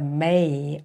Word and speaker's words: 马: And it is very vivid, and look at this long face of the horse, and also the mane on its neck. So it is pronounced ma, ma, the horse.